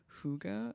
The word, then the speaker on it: hygge: Nordic concept of like I think it's pronounced hygge, which is like it's about being cozy.